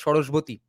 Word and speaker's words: Saraswati: That's how important the river Saraswati was, and that's how the river's name became Saraswati. In Bengali, we would pronounce it as Shoroshboti.